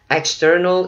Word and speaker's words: external: External ear canal. External, chữ này mình nhấn âm giữa ha.